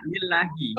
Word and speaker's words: lillahi: Marfu'un mubtada'un marfu'un Allahi jarin lillahi, bacanya lillahi.